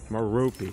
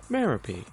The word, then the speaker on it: Merope: It's not pronounced Merope, and definitely not Merope. It's pronounced Merope.